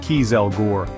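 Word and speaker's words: kieselguhr: Nobel was transporting cans of nitroglycerin packed in a type of absorbent fossilrich clay called kieselore, pronounced kelgore.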